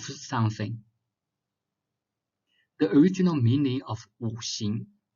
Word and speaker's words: 五: In Chinese, we call it 五行. 五 is 5. Spelled like W, U.